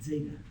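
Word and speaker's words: ζήτα: Yeah, it's like a DZ, Zeta. So, I misspoke. That is not just a plain Z, it's like a DZ, Zeta.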